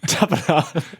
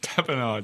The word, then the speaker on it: tapenade: Tapenade. Tapenade, yeah. I would have had it right. I just thought it was so funny. That's all she She said. broke her tooth on an olive-topped tapenade.